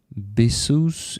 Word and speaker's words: bisous: Buy bisous in French. Buy is bisou. Bisou? Because S in the end is not pronounced, right?